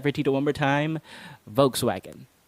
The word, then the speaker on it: Volkswagen: But the mistake that most Filipinos make is pronouncing the last part as wagon.